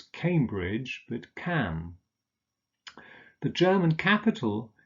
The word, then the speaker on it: Cambridge: unser Notting oh sure Cambridge is on the river cam so it's Cambridge that can the German